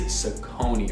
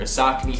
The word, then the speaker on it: Saucony: something crazy like that it is sakoni or saknee however you want to pronounce it these are the grid